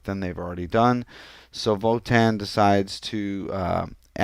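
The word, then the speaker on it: WOTAN: think for itself it's spelled w Otan they pronounce it Votan and the acronym actually spells out we'll operating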